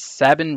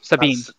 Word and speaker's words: Sabine: It's Sabine Wren. So, Ranger, I know Sabine, not Sabine.